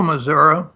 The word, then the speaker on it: Missouri: Joe, Missouri. It's pronounced Missouri, that's correct. Straight down, just a short distance from Independence, Missouri.